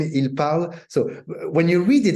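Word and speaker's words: parlent: Je parle, tu parles, il parle. Then you put ENT, but it sounds the same, il parle.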